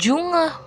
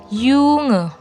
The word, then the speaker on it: Junge: Contoh ada tulisan junge bacanya bukan junge tapi bacanya yunge.